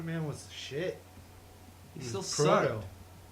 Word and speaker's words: Proto: He still Proto. sucked. It rhymes with Frodo.